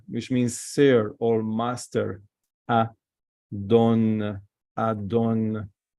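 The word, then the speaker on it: אָדוֹן: Adon, Adon. So remember, this is Holem. This is O letter, O. This vowel, sorry, O vowel, O. This is Kametz, A.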